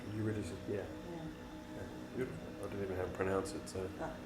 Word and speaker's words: Eurydice: Eurydice, yeah. Beautiful. I didn't even know how to pronounce it, so thank you.